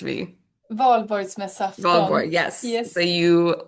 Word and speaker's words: Valborgsmässoafton: This is from, I can't pronounce the name of the holiday, but it's like Volksborg. Somebody Swedish, please correct me. Valborgsmässoafton.